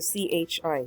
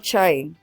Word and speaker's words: chi: used to symbolize the CHI, the chi. Chi-squared. It's not chai or chai. It's not like a T. It's chi. And so think of it like sky, okay? It rhymes with sky.